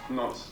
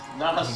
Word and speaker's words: Nons: Nonce. Nonce. So I'm Nonce. Nonce. Nos.